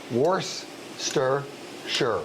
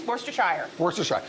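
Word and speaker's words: Worcestershire: little wor sauce and this is how you say it are you ready wor stir sure it's three syllables that's not how I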